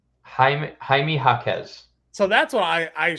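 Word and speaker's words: Jaime Jaquez: mean it doesn't matter you know how to pronounce his name correctly ha haime hakz so that's what I I swear it was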